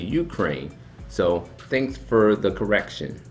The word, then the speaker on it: Ukraine: In my last video, I called it the Ukraine. It's actually Ukraine.